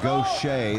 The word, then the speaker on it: Gausha: terrell um you see his name is spelled g-a-u-s-h-a and it's pronounced go shay there's larry furby your